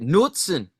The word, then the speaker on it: Knudsen: Do you pronounce it Knudsen or Knudsen? I pronounce it Nutzen. Knudsen. Okay. You do Nutzen. Yeah, that sounds a little German. I've heard people say Knudsen where it's like nuts in your mouth. I don't know. I don't like that pronunciation at all.